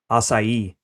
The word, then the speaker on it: Açaí: Açaí.